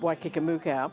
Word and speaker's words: Waikikamuka: And I said, "It's pronounced Waikikamuka. It's a fantasy place in New Zealand. There is no such place, but it's 4 Maori words put together that just comes out as, in English, Waikikamuka."